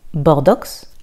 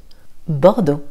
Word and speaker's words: Bordeaux: Bordeaux. Et non pas Bordeaux, le X est silencieux. Bordeaux.